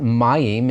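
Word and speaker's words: מים: got that name but Mayim is the Hebrew word for water good word to learn begins with a regular me ends with a final meem because it's accented on that first syllable you see that accent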